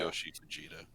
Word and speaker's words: Tsuyoshi Fujita: I'm not going to pronounce I this found it. name correctly. Yeah, Tsuyoshi Fujita.